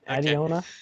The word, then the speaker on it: Adeona: Adiona.